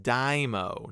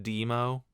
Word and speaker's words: Dimo: Oh, I guess his name is supposed to be pronounced Dimo, not Demo.